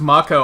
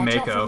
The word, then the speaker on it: Mako: a jump button yeah I never expected it to be pronounced Mako I always thought it was going to be Mako Live Wire they're everywhere